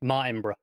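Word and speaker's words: Martinbrough: It's because there's no extra O between the B and the R. Yeah. So it's just Martinborough. Martinborough.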